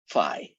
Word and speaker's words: phi: That guy is the Greek letter theta, and this guy is the Greek letter phi, which I pronounce like, phi, phi, fo, fum, phi.